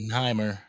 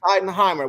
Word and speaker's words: Schottenheimer: How you pronounce it? Schottenheimer. Schottenheimer.